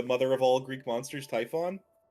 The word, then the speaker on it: Typhon: the the mother of all Greek monsters, Typhon. I I don't think I've ever heard it pronounced that way.